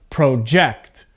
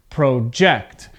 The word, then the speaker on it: project: on the verb first now project remember verb two-syllable verb the stress is at the end of the word okay so this sounds like project project now to project means